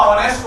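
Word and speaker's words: honest: इन्होंने तुरंत फिर मुझे समझाया, बोले इसमें हॉनेस्ट नहीं होता, ऑनेस्ट होता है, साइलेंट होता है।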